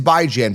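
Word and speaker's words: Bijan: It is by Jan. By as in bi-weekly, bi-weekly. Ran Jan. Ran as in tan as in fan as in man.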